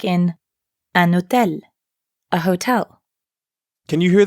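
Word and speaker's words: hôtel: N like in an Hotel a hotel can you hear the difference a cafe an Hotel utel starts with an H but in French the H is always silent so you'll have to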